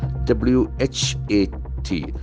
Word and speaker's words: what: e what was here we have got beautiful sound w h a t the language reverse the letter is a here but the sound is O It's A Beautiful observation what it's basically a pronoun you can as determine also what it's a single syllable what what a what was so normally the letter is a but here the letter A has got basically six sounds this is o sound W the unfortunate thing